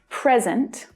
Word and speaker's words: present: you think next example present present the vowel sound is strong in the stressed syllable remember and then the vowel sound in the unstressed syllable reduces present we forgot to bring